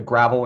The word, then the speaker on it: Gravel: It's spelled Gravel, G-R-A-V-E-L, the Gravel Institute, but it's pronounced Gravel.